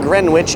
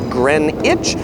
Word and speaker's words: Greenwich: The other couple things about pronunciation is Greenwich Mean Time, or Greenwich. It's not Greenwich, it's Greenwich.